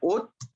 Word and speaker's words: haute: Altura se escribe haute, se pronuncia haute, altura, ok.